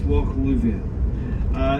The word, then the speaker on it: Lubhair: Lubhair, it's spelled L-U-B-H-A-I-R. If you put the B and the H together in the Scots Gaelic language, it creates a V. So it's Loch Lubhair.